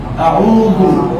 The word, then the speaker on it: আউযু: প্রথমে হামজা, তারপরে আইন, আউ, তারপরে লাম। আউযু সু কেউ বলেন, তাহলে উচ্চারণটা অশুভ। আউযু আউযু আউযু আউযু বলেন সবাই।